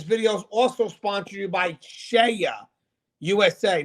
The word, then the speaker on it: Ceia: And guys, this video is also sponsored by Shea USA. Now, Shea is spelled Ceia.